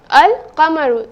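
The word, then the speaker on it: القمر: This word, al-qamaru, I have pronounced the lam, isn't it?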